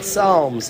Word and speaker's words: Psalms: what's the big idea with that silent P?